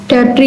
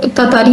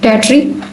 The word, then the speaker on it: Tartary: आज हम poem number 2 पढ़ेंगे, टैट्री बाय वाल्टर डेलामेयर। ये जो वर्ड है टैट्री, इसको तातारी भी बोलते हैं कुछ लोग, लेकिन जो सही प्रोनाउंसिएशन है वो है टैट्री।